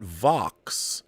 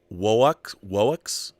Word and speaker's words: Vox: Darth Plato says, not to be a nerd, Rob, but VOX is pronounced WOX. The V is said like the W, and the O is a long vowel sound.